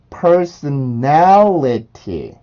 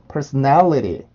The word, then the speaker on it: personality: 그럼 발음을 해보면 personality, personality, personality, personality, personality, personality. 한 번 더 personality, personality, personality. 자, 이렇게 발음을 해주시면 돼요. 그래서 personality라고 하는 단어는 T 발음이 플랩이 되기 때문에 T 발음까지 플랩을 해주셔서 personality처럼 발음을 해주시고요.